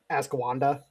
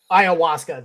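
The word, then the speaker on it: ayahuasca: Ascanda, is that how you say it? That that that the uh uh Siberian Americans like to smoke. Ah, Iawaska.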